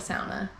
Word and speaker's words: sauna: A sauna is most people call it a sauna. I call it a sauna. That's how it's actually supposed to be pronounced.